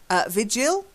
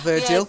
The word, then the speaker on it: vigil: Vigil. Yeah. A vigil. Vigil. Yeah. Well done. Not Virgil.